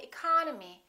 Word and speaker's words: economy: the first word economy the second syllable is stressed therefore this e and this o are reduced we don't say II call no me we say economy economy look at this one the